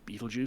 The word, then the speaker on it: Betelgeuse: film you can see it's written like it is in Hitchhikers after the planetary system, but it's pronounced Beetlejuice.